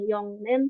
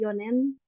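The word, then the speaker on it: 四年: Ichinen, ninen, sanen, yonen, kecuali ini ya, bukan yongnen tapi yonen. Gonen, rokunen, nananen, bisa nananen, bisa shinen, boleh pakai yang mana aja.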